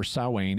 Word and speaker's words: Samhain: the correct pronunciation sowwane and explains that they pronounced it samhain back then what's the second mistake samhain is not a or sowein is not a deity or a demon it's